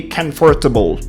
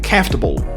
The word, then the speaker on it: comfortable: this word for instance you might be tempted to say comfortable if you say that we will be able to catch you but native speakers would rather say comfortable that's what we call